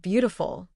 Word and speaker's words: beautiful: Try saying the word beautiful. The stress is at the beginning. Both. Feel how the first part is stronger.